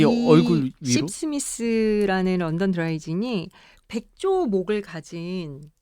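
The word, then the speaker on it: Sipsmith: 아니 십스미스 이게 발음도 좀 재밌고 이게 십스미스. 십이라는 게 약간 이게 그거 아니에요? 한 입씩 홀짝홀짝. 홀짝거리다. 아 그래요? 씹이 아니고 씹. 아. 저러면서 너무 오다 이런다. 쌍시옷 넣지 말고.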